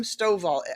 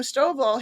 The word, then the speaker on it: Stovall: thing even if nobody is watching by Jim Stovall I think it's pronounced s-t-o-v-a-l-l I'm going to repeat that Integrity